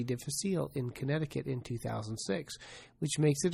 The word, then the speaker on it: Connecticut: diff, and because of this, they started doing surveillance of diarrhea in Connecticut, which should be pronounced Connecticut.